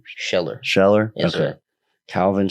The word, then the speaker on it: Scheller: Scheller.